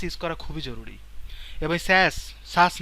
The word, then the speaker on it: Sass: সাস কিন্তু উচ্চারণ আসলে সাস না, স্যাস।